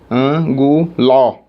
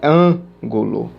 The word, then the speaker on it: ângulo: Anguló. Anguló. Não ficou legal. Então é ângulo.